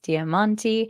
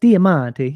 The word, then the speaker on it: Diamanti: By the Fantastic Zs damanti that's how you pronounce it right yeah just like that diamonti you know very Italian like Dam perfect and